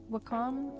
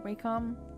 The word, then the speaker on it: Wacom: had originally wanted a uh a 22 in Wacom or wcom I heard it pronounced both ways so I'm never sure how